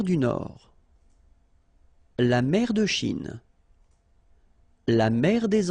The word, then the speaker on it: Chine: Remember, don't insist on the E. Chine. Okay? And then this CH, sh, Chine.